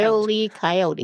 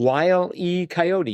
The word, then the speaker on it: Wile E. Coyote: Wile E. Coyote. Wile E. Coyote. You got to get that pause in there, I think.